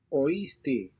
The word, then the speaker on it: oíste: Since these words have a written accent over the letter I, the diphthong is broken and the two vowels are pronounced separately. Oíste. Oíste. So notice that you are pronouncing the O and I separately. So it's oíste, Oír.